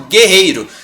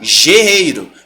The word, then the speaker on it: guerreiro: som da letra anterior então por exemplo Guerreiro se você não tivesse uma aqui você ia pronunciar gerreiro mas você tem oo que ele não tem só o que você não fala bueiro tá é guerreiro só um fonema em vez